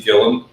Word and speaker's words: Gilliam: You're also getting different personalities with Dusty Gilliam. And I meant to tell you guys, it's Gilliam, not Gilliam, even though it's spelled like William.